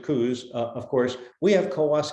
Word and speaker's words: Coos: The annular eclipse in October of 23 crosses Oregon, and believe it or not, there's the town of Coos, Oregon. They pronounce it Coos.